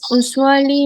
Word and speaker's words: usually: La palabra usually empiecen con YU para la pronunciación.